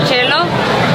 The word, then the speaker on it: cielo: I used to have Italian teachers in elementary school, and they would call me del Cielo. And like, you know, I understood that's how you pronounce it in Italian and everything, but I was like, guys, I'm not a cello.